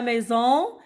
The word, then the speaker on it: maison: Un dimanche à la maison. A-I se lit et.